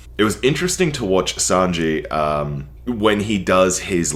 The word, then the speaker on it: Sanji: was talking about uh sanji oh also i finally heard how sanji's name is pronounced so i will no longer be calling him sanjay uh so sanji and